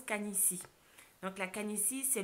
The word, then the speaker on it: canitie: canisy ça s'écrit ca/aines ide et ça se prononce kahn ici donc la can ici c'est le phénomène du